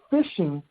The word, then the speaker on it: phishing: they fishing for fish think of that concept but it's spelt different spell p-h-i-s-h-i-n-g well a cyber criminal or a threat agent is doing the same thing he's fishing for you and your